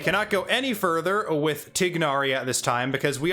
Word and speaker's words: Tighnari: a let's take or tignari that's going to take some time to get used to not pronouncing the igh as a i sound once again one of